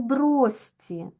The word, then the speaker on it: брошці: вами свистячий і свистячий ось слово брості брості ми записуємо пишемо ми брошці але вимовляємо бросці так тому що у